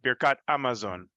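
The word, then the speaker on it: Birkat Hamazon: the He Hayediyah before Hamotzi, they would never pronounce the He. It would be Amotzi or Amosi. Same with Birkat Amazon, which is particularly funny growing up in Seattle,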